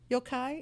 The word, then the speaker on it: yokai: Yokai, is that how? Am I pronouncing this right? Yokai?